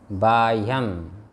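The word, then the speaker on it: बाह्यम्: बाह्यम है ना, ह पहले है य बाद में बाह्य कि नहीं?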